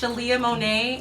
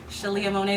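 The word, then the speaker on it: Sheleah Monea: It's actually just Shalia Monet, and my name is spelled SHELEAHMONEA. Shalia Monet.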